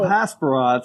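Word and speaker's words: hasperat: It's a burrito, and I love Hasparats, so fantastic. Yeah, Hasparat, that's how you say it.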